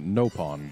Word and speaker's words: Nopon: ask them good idea I've always been pronouncing at nopon but I guess it's not on there wasn't it nope on in Xenoblade X I don't know I don't remember I know it's no pun in Japanese toreen defense I mean